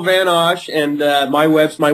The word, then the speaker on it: Osch: yourself to my audience well you did pretty well it's van osh and uh my webs